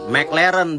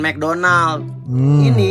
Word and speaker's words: McLaren: nonton Martin keyless yang ini McLaren bukan McDonald nyebutnya Toyota Supra uh Honda